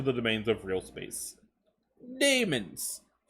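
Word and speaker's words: daemons: domains of real space demons I know it's not pronounced Damon's I do I'm just like basically poking fun at the extra letter A in there for no reason but uh a demon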